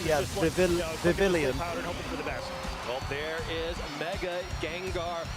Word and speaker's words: Vivillon: I love the way Evan pronounces Vivian. Yeah, Vivillon.